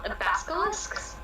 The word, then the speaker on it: basilisk: Okay, Demetrio, so what you know is, you can hear basilisks? I don't know Basilisk. how to pronounce that. Yeah. There is no K. What is it? There's only one K, and that's at the end.